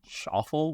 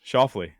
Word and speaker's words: Schauffele: Shuffle? What the fuck? How you say his name? You were close. Shoffley. Oh, Shoffley.